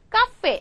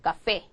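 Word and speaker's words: café: 생각하면 모음으로 끝나잖아요 그죠 그래서 실제로 읽으면 뒤에서 두 번째 음절 얘를 카페 이렇게 읽었어야 되는데 그거 아니라 말이죠 어떻게 읽어 달라고요 여길 강하게 읽어 달라 이거죠 그래서 카페 카페 이렇게 하셔야 된다는 거죠 그렇죠 카페 이렇게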